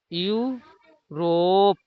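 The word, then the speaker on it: Europe: जैसे यू रोप देखिए इ दोनों के यू पढ़े इ दोनों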